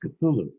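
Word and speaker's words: Cthulhu: correct Ed me and he said no it's pronounced cthulu and I said how do you know he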